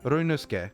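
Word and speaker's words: Ryunosuke: Well, you don't pronounce the the U very much, do you? So, it's Ruske.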